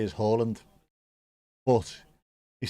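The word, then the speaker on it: Haaland: Pronunciation he would say is Holland. But he said in England just call me Harland because they're used to it.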